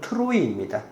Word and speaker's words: 트로이: 이 드로아는 우리가 알고 있는 이 트로이 목마로 유명한 그 정확한 발음은 트로이입니다.